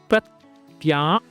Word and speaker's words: Pratyahara: Pratyahara, pronounced Pratyahara.